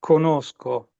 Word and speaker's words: conosco: We just dropped the G, conosco. Conosco, nowadays.